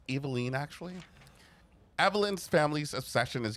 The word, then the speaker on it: Eveline: And then get really, like, outsized mad at anybody who mispronounces it. It's Eveline, actually.